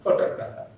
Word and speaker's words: photographer: If we add er to the photograph, that becomes photographer, right? If we add er to this word, the stress is on the second syllable from the beginning. Photographer. Photographer, that means to is a stress syllable.